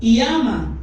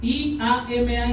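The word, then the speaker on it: ἴαμα: Sanidad se escribe así, iama, I-A-M-A en griego, iama, y significa curar, sanar, tal y como suena.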